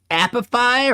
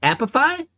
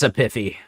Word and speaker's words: Apify: Wait, is that really how you're supposed to pronounce the name? Epiphy? There's no way it's Epiphy. Okay, I was gonna say, there's no way Epiphy is the right way.